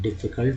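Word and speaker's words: difficult: मुश्किल डिफ़िकल्ट, यू का उच्चारण आ के रूप में होता है तो डिफ़िकल्ट हुआ। संवाद या बातचीत को बोलते हैं डायलॉग।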